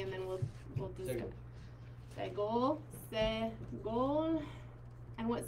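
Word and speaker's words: סגול: It's actually eh, like eggs in a little nest. And because his title is Segol, it's easy to remember that he makes the sound eh.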